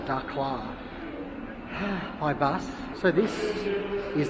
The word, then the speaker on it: Dakhla: I think it's more like a Dakhla, that's how you say it.